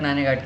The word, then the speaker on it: नाने घाट: ठीक है, नेक्स्ट आता है दोस्तों नाने घाट। ठीक है, इसको नाना घाट भी कह सकते हैं प्रोनाउंसिएशन में।